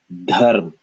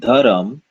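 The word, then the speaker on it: धर्म: This would be dharm. Now, of course, using good pronunciation, we would have the the here as air. We feel air on our hand, but this is dharm, not dharam, but dharm.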